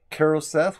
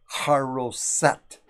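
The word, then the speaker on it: charoset: keroseth that is pronounced carol seth with a hard ch at the beginning or hero set carol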